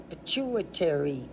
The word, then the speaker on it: pituitary: At the base of the hypothalamus is the pit pituitary gland. See, I've had that word before, so I'm pronouncing it correct.